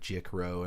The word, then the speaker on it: Jik: I've always said Jikro, and I hope it's correct. Anyway. This is how it's pronounced. Jik as in magic, so this is...